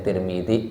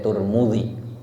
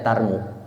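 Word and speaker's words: ترمذي: SAW dalam Sunan At-Tirmidzi, ya, namanya Tirmidzi, boleh Tirmidzi, boleh Turmudzi, boleh Turmu, boleh Tirmi. Yang nggak ada Tarmu. Di Indonesia ada Tarmiji ada. Tapi kalau imam hadis itu bacanya dua karena nggak ada barisnya. Yang pertama barisnya namanya At-Tirmidzi atau At-Turmu, Turmu, Tirmi. Yang nggak ada Tarmu atau Tarmi atau Tarmuji.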